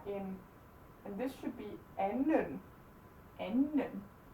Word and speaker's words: anden: Være in, and this should be anden, anden. The D is silent, no matter what.